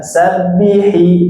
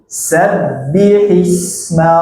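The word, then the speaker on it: سَبِّحِ اسْمَ: Nah, gitu ya, tasydid, jangan sabbihi tapi sabbihisma rabbikal a'la. Silakan ulang.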